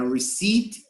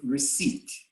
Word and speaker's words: receipt: don't confuse recipe with receipt okay recipe yes recipe and receipt i don't pronounce the p but i write the p okay okay any question